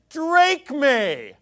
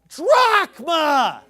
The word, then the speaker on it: drachma: like an idiot because he says Drake me hey dipstick it's pronounced drachma that's like saying you know